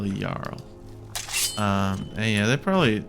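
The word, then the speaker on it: Jarl: It's J A R L. They spell Yarl.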